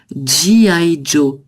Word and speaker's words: G.I. Joe: Alors ici, en fait, on le prononce aussi un peu à l'anglaise. G.I. Joe.